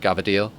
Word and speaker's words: cavatelli: uh cavatelli or you you know if you're more Italian about the pronunciation be like gavadil another can be your